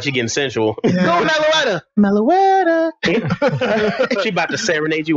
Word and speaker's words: Meloetta: Meloetta. Okay, that's actually kind of nice. Meloetta. Is Hello. That? I bet that's his name. She sounds like she's getting sensual. Go, Meloetta. Meloetta.